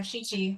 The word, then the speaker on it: Shichi: Was it Shishi? Is that how you pronounce it? Okay. Yeah. Yeah, Shichi, like she's a girl that twice.